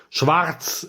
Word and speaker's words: Schwarz: Um I mean obviously his name is supposed to be Schwarz, you know, Schwartz, actually if we're going to pronounce that properly.